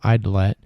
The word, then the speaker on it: Aydlette: dancing with my fate that author is eidlette uh welcome to the show hey aaron